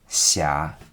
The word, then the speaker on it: Xia: The pronunciation of Xia is between C and She. Xia.